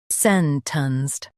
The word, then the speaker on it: sentenced: sentenced sentenced Stress s e n and keep t u n s t light.